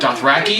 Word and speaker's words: Dothraki: Dothraki?